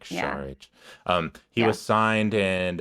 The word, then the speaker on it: Šarić: I just felt like Dario SAR was or Char I don't know I just heard a thing about how you should pronounce it today like Char um he was signed